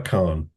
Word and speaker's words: Kahan: Noah Khan. Yeah, it's spelled Kahan.